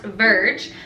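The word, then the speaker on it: Vrg: It's spelled V-R-G, so I'm assuming it's supposed to be pronounced Verge, but if I'm wrong, you can correct me down in the comments.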